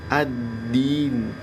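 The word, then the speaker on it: الدِّينِ: Adin addin addin nah ini yang tadi dalnya tasydid ya jangan kemudian dia Jadi huruf taah sering nih kalau dengar ada bacaan orang baca maiki yaumidin Min Nah itu huruf Dal pertamanya terus kemudian berikutnya huruf ta itu keliru ya harusnya Dal dengan Dal karena tasdid ya tasdid itu ya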